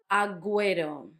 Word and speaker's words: agüero: Agüero, this was the two dots on the U that make it sound, that make give the U a sound, even though it's in a gue.